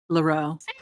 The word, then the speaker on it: Leheroux: For Nashville, we have Zachary Leheroux. Leroux. The H is silent.